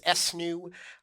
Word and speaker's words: ESNU: system for us we call it esnu uh which we sometimes pronounce s new uh where e is exemplary s is satisfactory n is not yet and U is unaccessible and we chose those